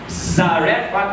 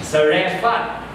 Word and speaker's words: Zarephath: Zarephath as in Zin. Yung last syllable, fat, is P-H-A-T-H. Zarephath.